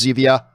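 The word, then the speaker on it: Zevia: Z via to me I call it Zed via some people tell me it's supposed to be pronounced Sevilla I don't give a [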